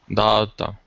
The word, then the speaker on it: daughter: Daughter. That's right. The GH is silent. Daw. Daughter. Daughter.